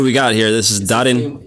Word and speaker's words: Darin: Simply Darin. Simply Darin. Yeah, you just have to say Darin.